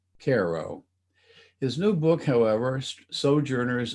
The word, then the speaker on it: Cairo: first snow, and about an American city spelled the same as Cairo, only pronounced Cairo.